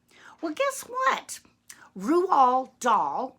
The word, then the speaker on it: Roald Dahl: well guess what rule all doll yes that's how you say his name I can prove it